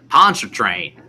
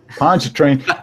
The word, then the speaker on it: Pontchartrain: Pontchartrain. Pontchartrain.